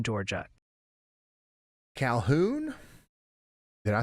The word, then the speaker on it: Calhoun: And hey, quick tip from the chat pronunciation police. It's apparently Calhoun, Georgia. Calhoun?